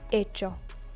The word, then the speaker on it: hecho: It is not hacido, as you would imagine from a second conjugation verb. It is hecho. Again, you see this CH, which is pronounced ch.